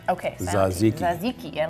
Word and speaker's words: tzatziki: Of course, the mustards and tzatziki sauce for the gyros.